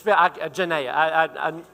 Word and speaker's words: Janaea: It's Janaea.